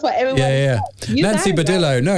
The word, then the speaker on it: Badillo: latina so i'm saying badijo that's how you say it in spanish but you couldn't write in english i think it is vadillo that's what everything yeah yeah nancy badillo no it's nancy